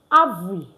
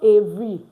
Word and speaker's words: avril: Avril. Avril. Avril. Avril. Not Avery. A. Because alphabet A is pronounced A.